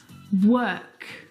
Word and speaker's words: work: The vowel sound is actually as in her. Work, world, word.